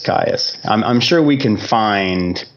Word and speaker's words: Kyuss: But I heard somebody calling them like Kyuss, but I was like, no, that's too much like Kiss. It's got to be Kyuss.